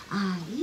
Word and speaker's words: 和: よさこい魂は平和の和って書いてあいって読むんですね。